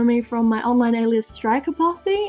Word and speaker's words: Strikaposse: You guys will probably know me from my online alias Strikaposse, and yes, that's how it's said. I know there's a lot of confliction between whether it's Strikaposse or Strikaposse, things like that.